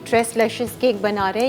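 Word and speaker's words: tres leches: एक नाम है ना ट्रेस लेश ट्रेस लेशर इसको ऐसे ही प्रोनाउंस करना ठीक है जी ट्रेस लैशेस केक बना रहे हैं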